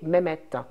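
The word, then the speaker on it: Mehmet: Mohammed alors en fait Mohammed c'est une prononciation turque du du prénom Mohammed Mohamed donc le prénom Mohammed a voyagé l'islam a voyagé et chaque population a donné le prénom Mohammed et elle l'a adapté à sa connotation et sa prononciation du coup Mohammed donc le celui qui est comblé de louange va passer chez les Turcs avec une connotation turque qui est mehet donc mehet chez les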